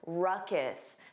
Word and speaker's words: ruckus: Notice that pronunciation? Ruckus. The N sound is unstressed.